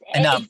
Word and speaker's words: Anam: Pronounced Anam. spelled Anem, and pronounced Anam.